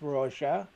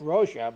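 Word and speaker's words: Rózsa: Oh, it's he always says it's Hungarian, and Zsa Zsa Gabor was Hungarian, and he said it's pronounced like Zsa Zsa because it's a ZSA.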